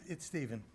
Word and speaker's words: Stephen: It's Stephen, but it's spelled with a PH so everybody gets it wrong.